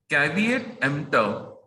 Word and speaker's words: caveat emptor: The word is given as CAVEATEMPTOR. अब इसको pronounce कैसे करना है, ध्यान से सुनना है। कैविएट, कैविएट, एम्प्टोर, कैविएट, एम्प्टोर, caveat, emptor. The P is silent, right?